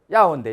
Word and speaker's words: 要: 요자가 발음이 어떻게 됩니까? 要 예. 야오인데 야오 사슴인데 야오인데 이건 뭐 요자가 필요하다 중요하다